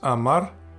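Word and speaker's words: אמר: Then, aleph, kametz, mem, patach, resh. You pronounce it as amar, and it means he said.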